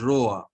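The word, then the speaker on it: roi: Now, hmm, how to pronounce this word? There is OI. So OI is Roa. very good. Roa. It is Roa.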